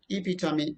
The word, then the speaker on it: epitome: know the correct conversation either they say epitome okay or something else but it is epitome epitome means example what is